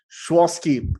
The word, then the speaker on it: Sychowski: So today I am with Schwosky. Am I pronouncing it right? Yes, Schwosky.